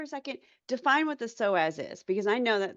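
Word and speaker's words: psoas: So, the soaz um and for anybody who wants to look it up, it's spelled P S O A S U P SoAZ.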